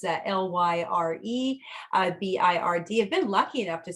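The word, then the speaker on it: lyrebird: pigs um the uh the lyre bird our lear bird i think the layer bird is actually the correct pronunciation it's a l-y-r-e b-i-r-d i've been lucky enough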